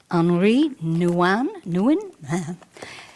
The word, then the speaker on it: Henri Nouwen: I want to read a quote to you from, I believe you pronounce it Henri Nouwen? Henry Nouwen, I don't know, it's spelled that way, but I know it's French, Henri.